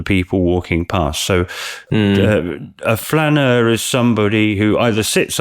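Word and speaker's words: flâneur: be a mispronunciation of flaneur, because I've not said that word before. No, flaneur is it comes from the French word flâner, which means to stroll.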